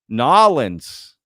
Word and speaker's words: New Orleans: we cross the globe nins that's uh New Orleans for the rest of you who don't know you got to say it like that okay nin portuges say